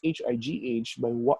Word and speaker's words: high: For example, the GH sound at the end of high, it's pronounced as a silent GH sound, even though the consonant is even though the consonant is present there.